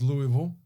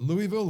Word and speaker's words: Louisville: Kentucky versus Louisville. Is it Louisville or Louisville? You Louisville. gotta say it like you have Louisville. like you're something like you're drinking water. It's Louisville. It's one Louisville. big just slur.